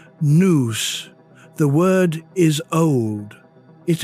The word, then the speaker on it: nous: The Greeks called it nous, pronounced noose.